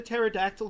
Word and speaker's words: pterodactyl: Why couldn't you hear the pterodactyl go to the bathroom? Well, because the P is silent.